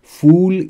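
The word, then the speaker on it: fool: میشی اول یعنی احمق بچه ها تلفظش فرق داره با ف یعنی پر دقت بکنید فول یعنی احمق نش یک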